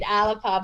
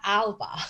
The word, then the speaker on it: Alba: going around on g saying with alexander's voice saying alipa but we would never call it alipa we would call it alba you know so i